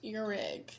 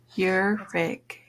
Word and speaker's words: Ihrig: pronounce your last name it's pronounced erig like your and then a rig your rig your rig okay great